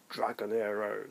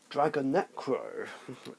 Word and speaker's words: Dragonecro: Starting with the only fusion I play, which is Dragonero, the Never Sold Dragon. No, Dragonecro. Yeah, I've been saying it wrong this whole time.